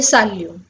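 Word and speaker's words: salut: सबसे पहले साल्यू। साल्यू means hello. साल्यू, साल्यू, यू कैन ट्राई and pronunciate it after me.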